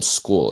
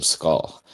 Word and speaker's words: Scull: Apparently, it's William School. It's not William Skull.